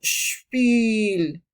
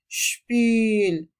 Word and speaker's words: Spiel: Y se pronuncia como una I larga. Por ejemplo, decimos Spiel, Spiel.